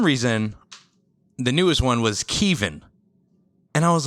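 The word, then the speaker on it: Keven: called the army okay my name is spelled k-e-v-e-n how do you pronounce that Kevin all right cool I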